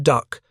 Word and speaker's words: DUKW: It was the DUKW pronounced duck, a six- wheeled amphibious truck that would soon deliver more supplies per hour than any other vehicle in the invasion fleet.